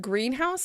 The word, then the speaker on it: greenhouse: near the green house in that case the word green house is actually stressed on the first syllable green so we live near